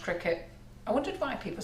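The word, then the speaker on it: Cricut: probably call it or circuit but it's actually pronounced cricket i wondered why people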